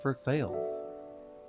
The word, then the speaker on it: Versailles: we've got ourselves a town named for sales and that's how it's pronounced true story